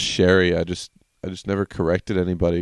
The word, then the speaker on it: Sheary: he's like, "Yeah, no, it's actually pronounced Sherry.